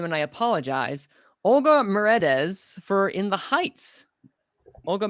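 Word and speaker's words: Olga Merediz: it's oh i think it's yeah melodies meredith olga marades yes thank you olga mary d's um uh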